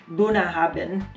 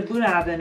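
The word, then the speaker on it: Bunnahabhain: So I have, I believe it's pronounced Bunahabin. Bunahabin.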